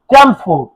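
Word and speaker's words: Chelmsford: সময় ভাইসরয় কেন আসো তাহলে মনে রাখবা লর্ড চ্যামসফোর্ড লর্ড চ্যামসফোর্ড এটা ইংলিশে যদি উচ্চারণ করো ক্ল্যামসফোর্ড এটা এটা ছিল চ্যামসফোর্ড এর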